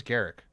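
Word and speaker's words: Garruk: Is it Do you pronounce it Groo or do you pronounce it Garrick? Oh, it's Garrick. I've been calling him Groo for years and then when they're like, "It's Garrick."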